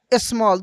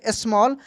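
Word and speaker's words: small: अ एस एम ए double L स्मॉल।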